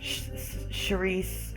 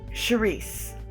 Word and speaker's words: Saoirse: Charisse, okay. Okay. Well, let me start by saying my name. Charisse. S-A-O-R-I-S-E. Charisse.